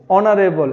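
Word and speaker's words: honorable: অনারেবল, এখানে এইচ এর উচ্চারণ আসতেছে অ। তাহলে যখনই আমরা কোনো শব্দে এইচ এর উচ্চারণ অ বা আ দেখতে পাবো তখনই আমরা এখানে এন ব্যবহার করব।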